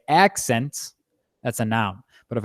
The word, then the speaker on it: accent: Each word on here, if you pronounce if you stress the first syllable of the word, you're going to say it as a noun. If you stress the second syllable, you're going to say it as a verb, right?